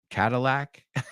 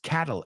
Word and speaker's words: Cadillac: Cadillac a cat cat Cadillac okay not the funniest joke but as you see then we don't really pronounce that D like a d it's Catal cata Cadillac like Catalyst or catalytic converter so a kitten's favorite car